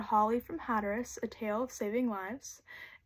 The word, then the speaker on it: Hatteras: an island called Hatteras hatus rhymes with mattress Holly would tell her